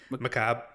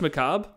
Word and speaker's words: macabre: style just fits the the barbarian how's that pronounced macabre it's just macabre why do they put so many letters after